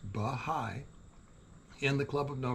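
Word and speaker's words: Bahá'í: not be the only bahai pronounced bigh in the club of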